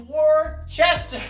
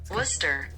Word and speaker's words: Worcester: Worcester. Worcester. Worcester. Fuck Worcester. It is Worcester. It's Worcester. It's not even. It doesn't even have an R.